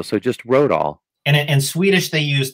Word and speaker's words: Rodahl: But it's pronounced Rodahl, like I got in my car and rode all the way home. Nice. But Rodahl.